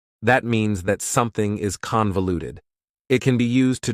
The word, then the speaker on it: convoluted: The final adjective that I have for you is convoluted. Convoluted also has 4 syllables, and the stress is on the first syllable, convoluted. That second syllable again has that schwa sound, that reduced vowel sound.